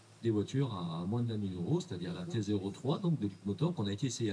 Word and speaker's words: Leapmotor: Rappelle le nom pour Leap Motor, Leap Motor. voilà. Ça se prononce comme, enfin ça s'écrit comme ça se prononce.